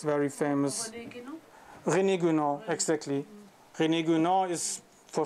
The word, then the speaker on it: René Guénon: René Guénon, exactly.